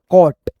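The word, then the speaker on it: caught: ए यू आ गया और जी एच टी को हम लोग ट पढ़ते हैं। ठीक है दोस्तों? सी ए यू जी एच टी कॉट कॉट है ना कॉट जैसे डी ए यू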